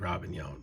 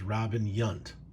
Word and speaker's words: Robin Yount: wanted to be like robin young play shortstop for the milwaukee brewers later on center field when he transitioned from shortstop to center but he pronounced robin young's name is robin yunt so to me that